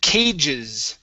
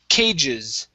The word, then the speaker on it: cages: This word here is cages. Okay, focus on that S at the end. Cages.